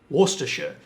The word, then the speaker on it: Worcestershire: It's pronounced Leicester, not Leicester, you bloody Americans. It's not Worcestershire sauce either. Worcestershire.